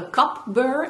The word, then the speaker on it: cup burr: It sounds like coupling. And this is the tool I was talking about in that tutorial, and it's called a cup burr, and you spell it C-U-P burr.